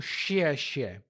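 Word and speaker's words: 谢谢: E perceba como eu estou falando o som do X ali no pinyin. Em português seria como xie, xie, mas em chinês não é tão cheio assim.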